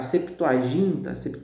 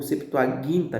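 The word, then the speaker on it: Septuaginta: romano, se refere a Septoaginta ou Septoaguinta, melhor pronunciando, que é a tradução para o do hebraico para o grego, nós já falamos dela várias vezes.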